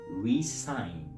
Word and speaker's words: re-sign: The second word is pronounced resign.